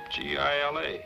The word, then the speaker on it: Gila: Why didn't you tell me it was spelled with a G? G-I-L-A, Gila. Everybody knows that. It's Spanish.